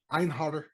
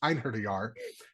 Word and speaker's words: Einherjar: He is an Anarch Einharder Setite. And no, he bluntly says he is not sorry, and it's pronounced Einherjar because Paul will choke me, and he is not a follower of Set.